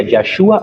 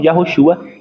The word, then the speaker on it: Yahshua: Pero o ponto principal o nome do Salvador não é Jesus. Então a pronunciação mais cercana seria Yahshua ou Yahoshua, e também Yeshua, que muitos falam também, que há um conhecimento que diz que isso vem também do arameu.